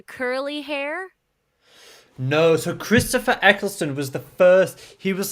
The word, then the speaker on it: Eccleston: guy 64 doesn't age and then uh christopher eccleston is that how i say it correctly yeah